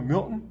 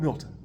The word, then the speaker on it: Milton: Depends on where you're from, is how you say it. Some people call me Milton, some people call me Milton.